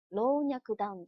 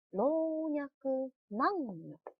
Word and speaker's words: 老若男女: 不能念成老若男女，而是念成老若男女。老若男女，特别要注意这个词的读音。